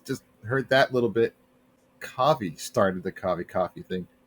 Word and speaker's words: Kovi: Or when they mispronounce my name, instead of saying Kovi, they say Kovi. They're like, oh, like COVID.